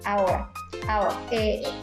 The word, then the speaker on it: ahora: silencio, y por tanto, aunque se escribe con H, no se pronuncia la H y se pronuncia la palabra ahora.